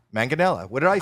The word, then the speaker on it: Manganiello: I said your name wrong. I'm Manganiello. Or sorry. you can say Manganiello or Manganello.